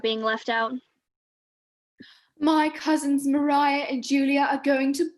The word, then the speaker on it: Maria: hello i'm miss bertram mariah older scale cousin pronounced mariah ooh a dance let's go not you funny